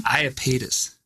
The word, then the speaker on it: Iapetus: How do you pronounce it again? Iapetus.